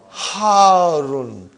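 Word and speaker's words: حار: Al-labanu harun. Harun. Because the shadda is on ra. So you got to pronounce it properly.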